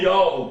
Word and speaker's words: Yahweh: O W aqui você lê como sendo U, e aqui aparece a última letra do nome do Pai. Portanto, o nome do Pai é Yahweh.